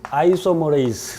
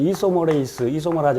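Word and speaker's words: isomerase: DNA 회전 요소 그러니까 DNA 토포 아이소머레이스 또는 이소머라즈 이렇게 발음을 하는데 두 가지 타입이 있다고 그랬죠.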